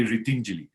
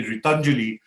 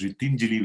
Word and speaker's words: Ritinjali: In Sanskrit, it means helping hands if you say Ritinjali. But if you're a good Punjabi and you say Ritanjali, then it means empty hands. So we have to be very careful of the Punjabi pronunciation of my NGO. Right. So but most people in northern India say Ritanjali. So I have to keep telling them, no, it's Ritinjali, which meant helping us.